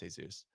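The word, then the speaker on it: Jesús: Jesus Sanchez is an Astros. Thank Jesus. They did. Technically, it's pronounced Jesus.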